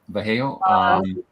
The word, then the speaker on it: Vallejo: Moved to Vallejo. Is that how you pronounce that? California? Mm-hmm. Yeah, Vallejo.